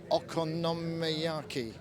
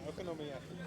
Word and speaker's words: okonomiyaki: The famous Japanese Pfannkuchen Okonomiyaki. Is that right? Yeah, okonomiyaki. Okonomiyaki is how you say that.